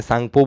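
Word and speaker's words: Tsangpo: टी सांगपो, लेकिन हम लोग बोलते क्या है, सांगपो बोलते हैं। मतलब टी जो है सो साइलेंट होता है, और ये अक्सर तिब्बत,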